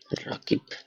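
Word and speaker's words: Rakib: পরিশেষে আরেকজনের নাম প্র্যাকটিস করি, এবার একটা বড় নাম প্র্যাকটিস করি, আসাদুজ্জামান রাকিব। তো এই ওয়ার্ডটা আমরা নামটা উচ্চারণ করি, চলেন।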